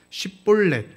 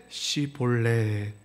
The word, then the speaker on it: 십볼렛: 그래서 십볼렛이라고 해야 되는데 시볼렛.